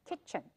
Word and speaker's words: kitchen: 那是哪一个没有呢？T，这里的 T 跟 CH 就只有发 ch 的音，就是 CH 的音，所以念成 kitchen。